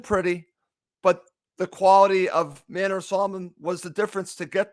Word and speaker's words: Manor Solomon: It's Manor Solomon, not Manor Solomon.